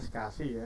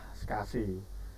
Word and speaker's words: SCSI: Hai Sedangkan untuk Hai saya itu bacanya sekasih ya bukan walaupun tulisannya scsi itu kebanyakan pada Hai Hah ranah teknis hai tuh biasanya menyebutnya dengan istilah sekasih small computer system interface